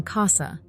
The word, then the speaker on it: casa: famous Italian greeting but if C is followed by any other vowel a o or U it sounds like a hard K as in Casa which means house let's